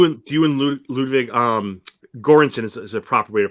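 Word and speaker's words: Göransson: know do you and you and Ludwig um gorinson is a proper way to pronounce his name correct yeah so so are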